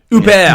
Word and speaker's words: Huppert: drama thriller starring Isabelle Huppert. I don't know how you say it. Huppert. I got it right first time.